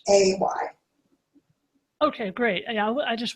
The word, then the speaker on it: Hay: You mentioned Louise Haig or Hag. Could you spell her last name? Because I have. Yeah. Yes. Louise Hay, it's spelled Louise, and her last name is Hay, like you feed horses hay.